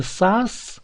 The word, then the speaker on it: сас: Не сас, а сас. Вот это пишется как бы буква А, но надо говорить коротко.